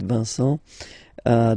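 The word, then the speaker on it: vous: hi everyone and welcome to learn French with v uh this is and in this lesson we'll discover together V so the pronounce well you a Vu Vu is you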